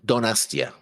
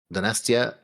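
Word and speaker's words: Donostia: It's pronounced Donastia. Donastia San Sebastian.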